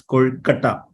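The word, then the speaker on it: Kozhukattai: Unnakaya or Kozukattai or Elada. The second one we pronounce as Kolkata. So that is Kolkata.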